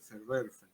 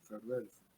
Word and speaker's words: Verwerfen: Sé que la B del inicio se nombra como F, Verwerfen, ¿no? Verwerfen.